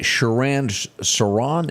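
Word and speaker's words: Sirhan Sirhan: was sentence today and you pronounce that shiran siron is that right yep that time what a tragedy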